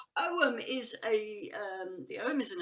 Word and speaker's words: Ogham: You wouldn't say the G, but in antiquity, who knows how it was pronounced?